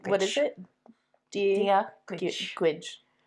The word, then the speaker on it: Gaeilge: Gaeilge. Yeah, more like a itch sound at the end.